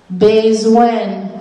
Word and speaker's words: bezwen: Bezwen, which really there should be an accent mark over that first E to the right so you know to pronounce it long sound. Bezwen, need. If you need money, if someone tells you they need money, they would say, bezwen lajan, I need money. Lapli, rain. Zouti, tool. Demen, those should have the accent mark going to the right, so you pronounce them the long sound.